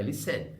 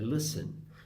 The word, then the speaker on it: listen: A sílaba tônica é essa, não é listen, é listen.